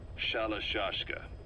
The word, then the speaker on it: Shalashka: somewhere along the line, Shashka got stuck on the end of Sharashka. The gorillas were using the name amongst themselves, and by the time I got to hearing about it, pronunciation had wound up as Shalashka.